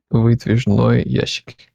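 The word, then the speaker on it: выдвижной ящик: It's actually Vidvizhny Yashik. I was putting the emphasis on the wrong syllable.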